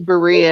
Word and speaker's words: Berea: pronounce it. Berea. It's Berea.